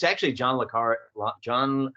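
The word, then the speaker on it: John le Carré: authors, you might have, and it's actually John Le Carre. John, how do you pronounce? That's right. Yeah. Is it Le Carre or Le Carre? Le Carre.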